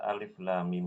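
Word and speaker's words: الم: Nah, saat membaca lam ini dia panjangnya 6 harokat. Mim juga sama, 6 harokat. Ya, jadi cara bacanya adalah alif lam mim.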